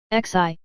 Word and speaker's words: Xi: Xi, pronounced like she, which connects the whole body.